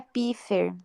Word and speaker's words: Pfeiffer: Se pronuncia Piffer.